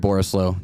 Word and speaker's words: Borislow: as well at borislow j-a-r-e-d b-o-r-a-s-l-w did i spell that right it sounded wrong when i was the oris it's a combination of boring and slow i didn't ever have